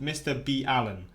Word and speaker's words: MrBallen: From what I've been told in the comments, it's actually pronounced Mr. B. Allen.